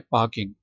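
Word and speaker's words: parking: करता हूं ठीक है पार्किंग पार्किंग पार्किंग प्लेसेस ठीक है पार्किंग फार साइलेंट है इसमें पार्किंग प्लेसेस अच्छा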